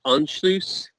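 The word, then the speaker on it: Anschluss: but the one is I'll spell it a n SC h lu SS i don't have that ha my it as if I didn't make hey that's that's pronounced unloose okay okay so here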